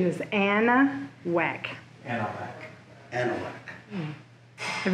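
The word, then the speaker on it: Anahuac: Like it's your which, pronunciation is Anna Whack.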